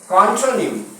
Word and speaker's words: contronym: कॉन्ट्रोनिम, CONTRONYM, कॉन्ट्रोनिम। इसका एक और वेरिएंट है, एक स्पेलिंग वेरिएंट है, जिसमें हम ओ की जगह पे लोग ए लिखते हैं, तो CONTRANYM, कॉन्ट्रोनिम।